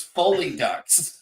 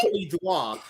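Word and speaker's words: Folie à Deux: your first guess was Foley Ducks. It's pronounced that by the English language. What are you talking about? Hey, this is from the Nazquak King. Come on. It's apparently it's pronounced Foley Duas.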